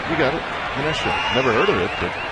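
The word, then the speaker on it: Menasha: a fellow chees head I'm talking about from Minasha Wisconsin pass ball high one and two did I pronounce that right manesa yeah you're right you got it manesha never heard of it but you got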